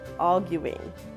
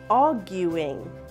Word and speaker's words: arguing: something right now pay attention to the word arguing the guu is pronounced as gu so we say a arguing let's repeat that arguing as you can see